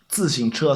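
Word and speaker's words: 自行车: So it's using the 自 and the 行 x and then it's a ch at the end. 自行车. It's 3 difficult pronunciations all in one. And they all stick very far away from each other. So 自行车 is particularly difficult. See if you can pronounce that one.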